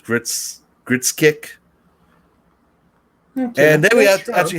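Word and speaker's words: Grzesiek: I'm not pronouncing his last name. It's Gritskick.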